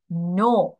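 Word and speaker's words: know: রেখেছিলাম তারপরে যে ওয়ার্ডটা দেখতে পাচ্ছি সেটা হচ্ছে নো প্রোনাউন্সিয়েশন খেয়াল করো কে এন ও ডব্লিউ অনেকগুলো ওয়ার্ড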